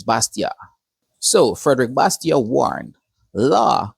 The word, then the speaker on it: Bastiat: His name is pronounced Bastia, not Bastier. The T is still silent at the end of his name. It's Bastia.